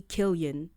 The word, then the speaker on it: Cillian: His name is actually Killian. His- I'm Yeah. sorry. I'm sorry, Killian. It's Killian Murphy. Well, in our defense, CI in French, you pronounce it C.